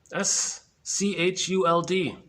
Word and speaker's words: Schuld: I think it's pronounced Schuld, S-C-H-U-L-D. Looks like should, but it's Schuld.